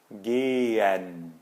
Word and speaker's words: gehen: E o H no meio da palavra a gente não pronuncia. Por exemplo, gehen.